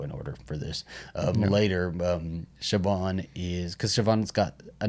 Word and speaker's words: Siobhan: Oh yeah, with gosh, how do you pronounce her name? Siobhan? Siobhan.